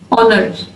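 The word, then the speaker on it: honor: There are also a few words that start with a silent H. चंद ऐसे word भी हैं जो silent as से स्टार्ट होते हैं, जैसे आवर, ऑनेस्ट, ऑनर।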